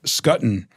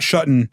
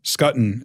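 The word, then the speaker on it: Schutten: Table um and you ended up having bre scotton and not shuton scotton is what I've learned how to pronounce it he won the you know that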